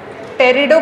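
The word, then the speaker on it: Pterido: फिर टेरिडो का स्पेलिंग क्या से शुरू होगा, पी से कि टी से? पी साइलेंट होता है, पता नहीं जब साइलेंट है तो रखा क्यों है ना।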